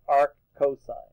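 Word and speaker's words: arccos: You actually say the real word, not how the abbreviation is spelled. Right? So don't say Mur, cos, right? And when you see this, actually say arc sine. When you see this, you say arc cosine, right?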